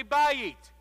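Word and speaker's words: בית: i'll that's right so everyone say bye eat bye eat everyone say house house say that's a nice house i think i'll buy it that's a nice house i think i'll bite so how do you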